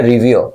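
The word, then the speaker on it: revere: रिवियर। रिवियर आर को bracket में इसलिए दिया जाता है क्योंकि ये साइलेंट होता है।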